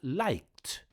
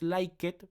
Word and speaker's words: liked: Like es regular, entonces su pasado sería liked, liked, ¿ok? recuerde que no es like it porque dijimos que hay ciertas formas de pronunciar la ed y son 3 formas: it, t y d.